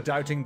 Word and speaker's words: doubting: Murdo's a doubting Doris. Doubting Dale. Doubting. Then why don't you pronounce the B in doubting?